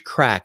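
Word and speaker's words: craic: say that the the we're having Irish crack with the guests from Ireland that I stop, pause, and I spell it and I say it's C R A I C.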